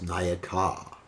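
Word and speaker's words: Nayika: That's masculine, Nayaka. Heroine, which means a female hero, is Nayaka. So Nayaka, Nayaka. A little difference in pronunciation.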